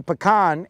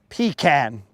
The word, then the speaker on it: pecan: I will only say pecan as it was meant to be pronounced, not pecan.